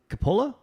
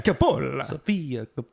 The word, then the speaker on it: Coppola: Is it Coppola? How do you pronounce their last name?